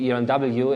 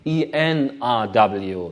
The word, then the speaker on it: ERNW: This is the company I'm running, ERNW, and even for Germans, pronouncing ERNW is a little bit difficult. Most people tend to say ENRW, not ERNW, which means misspelling in the mail address.